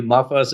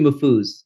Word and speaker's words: Mafuz: Mafus is unfortunately the more commonly selected pronunciation. It's actually Mafuz.